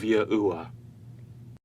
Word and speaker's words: Yahuwah: What you're going to discover is that the key historical figures and the overwhelming historical evidence points to the phonetic pronunciation of Yahuwah.